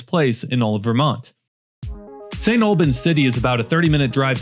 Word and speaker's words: St. Albans City: Number one is St. Albans City. I'm number one. You've got to be very careful how you say it. It's not St. Albans, it's St. Albans City.